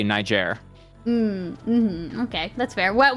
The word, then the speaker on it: Niger: say Niger you don't you don't say it with a hard G grle um you pronounce it like it's an airline you say Niger MH okay that's fair